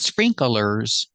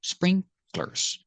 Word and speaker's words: sprinklers: So together, sprinklers. Remember, not sprinklers, two syllables, sprinklers.